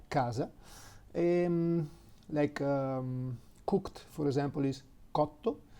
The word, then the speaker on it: cotto: E, the five vowels, if the letter C is followed by A, U, O, it's pronounced like a soft K. So house, for example, is casa, C-A-S-A, casa. Cooked, for example, is cotto, C-O-T-T-O, cotto.